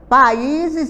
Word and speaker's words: países: países olhem Nossa coincidência países e baseadas veja que o s ele fica entre duas vogais e i o som de z Então as palavras que